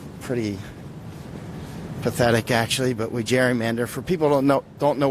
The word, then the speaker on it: gerrymander: It's spelled Gerry, mander, M-A-N-D-E-R. So it's like Jerry, like a man's name, and then mander, gerrymander.